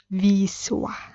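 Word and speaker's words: Wisła: the river is Vistula in Polish it's Vis I know it's a very tough um thing to pronounce but Yep this is how it sounds in Polish so this is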